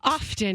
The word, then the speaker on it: often: I don't like pronouncing the T in often. I like the silent. Often. I like the I like often. I'm an often person.